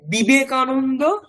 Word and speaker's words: বিবেকানন্দ: তো এটাকে বিবেকানন্দ আমরা উচ্চারণ করি, কিন্তু ওটা অ্যাকচুয়ালি ভি উচ্চারণটা কেমন হবে? ওটা বর্গীয় ব হবে না, মানে বিবেকানন্দ হবে না, ওটাকে বিবেকানন্দ।